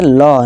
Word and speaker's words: law: लॉ भी हमारा यही कहता है, देखिए LAW क्या पढ़ेंगे, लॉ, ला नहीं लॉ, ऊपर चंद बिंदु भी है।